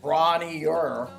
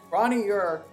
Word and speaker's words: Bron-yr-Aur: I feel like I'm out on that Bron-Yr-Aur, or however you pronounce that. It's a Welsh word. You got to roll the R, and obviously I can't do that, and I'm not going to pronounce it right.